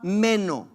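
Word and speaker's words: μένω: Cuando dice permanecer, y cuando ellos hablan el griego, ellos dicen meno, M-E-N-O en español. Pero si lo quieres escribir en la manera que sería en griego para su pronunciación, sería M-E-N-O-H.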